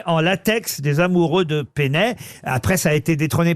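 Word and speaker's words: Peynet: Il y a même des musées Pénet au Japon parce que ces dessins-là sont devenus très très célèbres au Japon.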